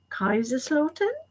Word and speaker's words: Kaiserslautern: See, I'm going to try and do the German pronunciation because the English pronunciation just sounds like GCSE German. So I'm going to try again. Kaiserslautern, which I think is near the Luxembourg border.